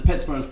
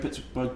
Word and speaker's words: Pittsburgh: Now, the Americans say Pittsburgh, I'd say Pittsburgh, because in Scotland you'd spell that borough, but it's a G instead of an H.